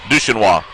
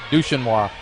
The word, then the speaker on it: Duchenois: Will you say her name again? Duchenois. Duchenois. It's French.